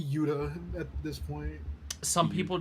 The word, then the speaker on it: Uta: picture of her foreign part of me thinks that her name is just pronounced Utah no it doesn't have an H in it unfortunately it's a UTA I wish it was Utah that'd be so funny I mean it would just be Yuda at this point some